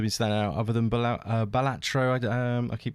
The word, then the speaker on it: Balatro: I did actually look it up because I was like, how actually do you pronounce this? And I think it's based off a Latin word for something. So I believe the correct pronunciation is Balatro, but Right. I'm northern, so Balatro.